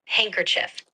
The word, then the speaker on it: handkerchief: That word is pronounced handkerchief.